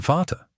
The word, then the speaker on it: Vater: schon And Vater, spelled v a t e r, means father. But remember, the v sounds like an f.